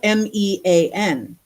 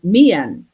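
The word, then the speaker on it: មាន: So Mian, well, they spell it M-E-A-N. And so we look at that, it's mean, right? But they say Mian because they're saying the E and the A, right?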